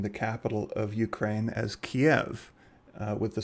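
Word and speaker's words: Kyiv: of that word so i will be pronouncing it as kiev um i will try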